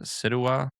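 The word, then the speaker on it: Ceuta: Situa.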